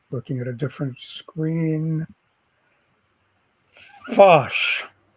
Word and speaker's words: Phosh: FOSS, which, as you know, is spelled PHOSH.